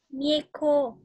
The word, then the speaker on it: Mieko: Hay là cái cô này đọc là Mieko hay là Miko? Mieko.